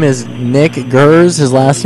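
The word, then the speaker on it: Geers: His name is Nick Gers. His last name is spelled G-E-E-R-S, Gers.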